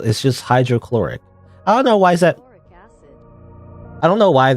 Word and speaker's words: hydrochloric: I don't know why I for some reason I expect the additional syllable like hydrocaloric acid or something but now it's hydrochloric acid um mixing them mixing that